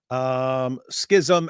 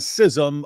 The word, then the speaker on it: schism: So it's schism, schism, and schism. Schism.